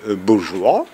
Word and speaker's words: bourgeois: volontiers gardiens des immeubles bourgeois ou de l'État bourgeois ou de leur milieu bourgeois, de leur milieu intellectuel et bourgeois. Bourgeois, il faut prononcer comme ça parce que leur cercle, on les appelle bourgade, petite bourgade.